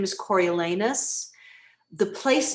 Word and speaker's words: Coriolanus: But the Latin pronunciation is Coriolanus.